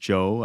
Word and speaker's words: Zhou: And one of the reasons why, and it is, yes, Harry, pronounced Zhou.